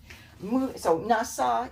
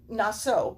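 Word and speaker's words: נָשֹׂא: Okay, so Nasa is going to be Naso because it's the first word.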